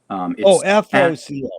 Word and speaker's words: FOCO: And VOCO is spelled VOCO? FOCO, FOCO. FOCO.